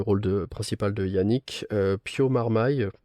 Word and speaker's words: Marmaille: de Yannick, Pio Marmaille, je prononce peut-être pas bien, Marmé, je sais pas comment ça se dit, je suis désolé. Non, c'est Marmaille, je crois. Marmaille. Enfin, je l'ai toujours entendu prononcer Pio Marmaille, donc j'espère que c'est ça.